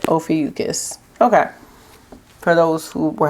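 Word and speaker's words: Ophiuchus: Ofucus, that's how you say it. Ofucus.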